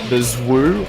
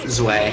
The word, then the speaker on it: Zwei: Gets the Zwoo, or the Zway, as I've been told it's not. Zwei.